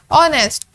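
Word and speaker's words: honest: ऑनेस्ट हम इसे start करते हैं ओ से, तो जो एच है वो हमारे पास साइलेंट लेटर है इसमें।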